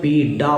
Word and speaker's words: पीडा: यहाँ ध्यान देना है, हिंदी में अपन पीड़ा बोलते हैं, संस्कृत में पीडा बोलते हैं। ड डमरू का ड बोलते हैं। यहाँ पर जो जड़ में ड के नीचे नुक्ता होती है वैसा उच्चारण नहीं करते।